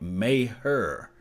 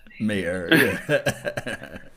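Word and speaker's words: Maher: worth it mmm hey they say you pronounced the kicker last night may her I'm not saying this kickers night last night at all i'ma let y'all go right now the call is call me mayor naw naw may hurt mr.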